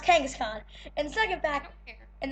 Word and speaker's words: Kangaskhan: have two facts right now first off it's pronounced Kangaskhan and the second fact and the second fact